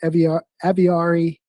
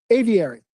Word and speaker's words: Aviary: for the application of Eviari. Aviary. How is that pronounced? Aviary.